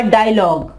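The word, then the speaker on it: dialogue: इसके अलावा डायलॉग, डायलॉग, डायलॉग, यहाँ पे क्या है? यहाँ पे यू जो है ये साइलेंट है, ठीक है।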